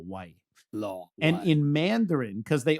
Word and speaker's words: Lo: the Venoms like law whenever you see L it's not low it's law like almost pronounced like L aw law and then so his in his name in canones would be law White Law and in Mandarin because